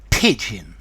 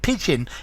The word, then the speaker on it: pidgin: hi there students pigeon okay pigeon English so notice it's spelled differently from the from the bird okay pigeon is a